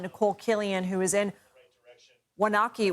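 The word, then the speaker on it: Waunakee: Killian who is in wanaki Wisconsin I believe is the pronunciation of that Nicole how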